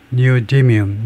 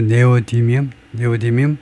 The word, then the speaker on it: neodymium: 그러면 발음을 우리가 들어보시는데 니오디뮴 니오가 이제 새롭다니까 이것은 이제 부수적이고 디뮴이 이제 프라이머리 여기 디뮴 D의 액센트가 있겠죠. 니오디뮴 우리말로 네오디뮴 하여튼 자재 이름이다 이제